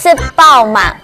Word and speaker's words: 食飽吂: 吃饱了没的客家话就念作吃饱嘛，这样记得了吗？